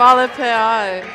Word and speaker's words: Malpi: side is malpi am I pronouncing your last name correct malpi all right well there you go that's how you pronounce it and I'm Mr Boyd